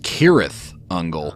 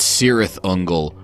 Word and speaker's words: Cirith Ungol: week it's cirith ungol or more properly it's pronounced Tirith angle yeah I guess it is a little bit nerdy to be getting pedantic about how to pronounce fictional words the band themselves actually say it's cirith ungol and one of their